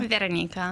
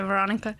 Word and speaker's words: Veranika: Veranika. Veranika. But I make it easier for people here, so just say Veronika.